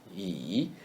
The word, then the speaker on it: 以: Yi is the letter E read in the third tone.